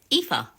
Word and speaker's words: Aoife: Aoife, not Oif. Aoife.